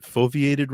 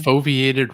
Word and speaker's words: foveated: gonna say it wrong the is it foveated rendering foviated rendering yeah I said it right the foveiated rendering which is this